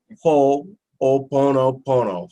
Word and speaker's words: Ho'oponopono: you leave here and you be able to pronounce it ho-oh Buono Buono who all means to make so if you